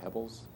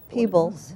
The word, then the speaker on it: Peebles: Oh, well, the other one, is it Peebles Island, or how do you say that, Pebbles? Peebles.